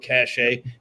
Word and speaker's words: cache: If I pronounce that right, or cache. You do you. Well, tell me, Patrick. No, you had it right. Yep, it's cash.